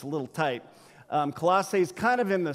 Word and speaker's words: Colossae: now i know there's different ways to pronounce in colossae colossi it's colossae okay colosse all right to the